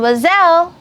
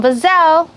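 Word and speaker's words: mademoiselle: unmarried girl then it's going to be Madame wazelle Madame bozell very good and if Madame or someone who's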